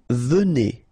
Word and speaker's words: venez: nous venons, all right, vous venez, okay, so a Z at the end combined will give you the sound E, and here you get E, venez, vous venez, all right, and then il viennent.